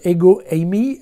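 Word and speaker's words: ἐγώ εἰμι: c'est moi alors le c'est moi en grec ça se prononce ego Amy et il faut savoir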